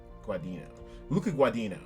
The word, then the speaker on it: Luca Guadagnino: I always get his name wrong. Luca Guadagnino. Luca Guadagnino.